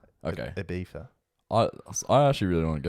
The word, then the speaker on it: Ibiza: Ibiza. No. It's Ibiza. No. Ibiza. No. Ibiza. Apparently, I've never heard this either. Okay. Apparently it's Ibiza. Okay. Ibiza.